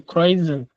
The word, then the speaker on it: kreuzen: Kreuzen Sie an. Yuma, Wann? Yuma, what is this? Hey, kreuzen. Nigga, it's not Zen. Kreuzen. Kreuzen.